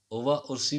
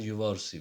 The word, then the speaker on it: Uva Ursi: ओवा उर्सी भी कह सकते हैं और युवा उर्सी भी। ये इसकी जो प्रोनाउंसिएशन है यू वी ए युवा।